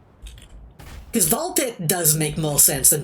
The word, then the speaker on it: Ball x Pit: Also, the X in Ball X Pit is silent. I thought it was, and then I saw a bunch of people saying the X, so I wasn't quite sure.